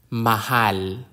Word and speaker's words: Mahal: Lola is a grandmother the consonant M like m in man Mahal Mahal Mahal means love